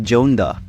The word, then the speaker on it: Joneda: Hey everyone, I'm Janeda, but most people call me Jonda. Any pronunciation is fine though.